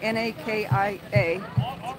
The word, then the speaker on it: Nakia: Nakia Creek Fire, N-A-K-I-A, pronounced Nakia.